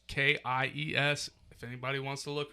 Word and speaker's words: Kies: It's Kies.